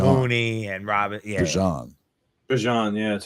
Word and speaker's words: Bijan: Bijan, yeah, that's how it's properly. Yeah, I should have put that in the news. It's pronounced Bijan, everybody. Yeah, according to him himself. It's like Dijon, but with a B.